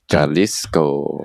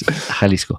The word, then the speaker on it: Jalisco: So, uh, Jaliscoco and saying and he learned to pronounce Halisco. Jaliscoco. Halisco. Yaliscoco. No. Ha. Ha. Like Hanukkah. Halisco.